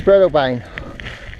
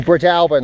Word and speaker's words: Breadalbane: way either woo and this is Blebane or Brit Alburn i've been told it should be pronounced either way small village but not